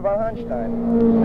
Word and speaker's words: von Hanstein: Hey, Mr. von Hanstein. Is that correct pronunciation? Yes, exactly.